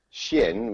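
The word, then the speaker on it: Skien: in Norway I mean a place called Shin which is spelled SK ien mm-hmm I've been here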